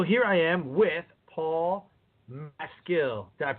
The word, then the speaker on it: Maskill: get through so here I am with Paul my skill God pronounce that right Paul you did Sean 100%